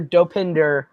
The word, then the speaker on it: Dopinder: horribly spilled but uh sounds like dope Ender uh that's correct and atus I had it wrong just wrong yeah we were looking for dopinder but yeah you pronounced it right spelling does not